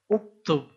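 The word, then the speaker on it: اكتب: si apa yang ini karena huruf hidup pertamanya baris u maka ini pun dibaca u uktub ini hah Oh ini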